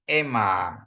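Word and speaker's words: αίμα: Ini perhatiin ini, alfa ketemu Yota, ya. Dia bacanya jadi ema, ya. Ema. Di sini ada stresnya di atas, ema.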